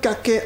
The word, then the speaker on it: caquet: nous intéresser à l'expression du jour rabattre le kaket à quelconque. Caquet qui s'écrit avec C A Q U e T.